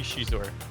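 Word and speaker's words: Xizor: How do you say Shizor? Do you say Shizor? Do you say Zizor? I think it's supposed to be Shizor. Shizor is how it is in the audiobook, so, you know.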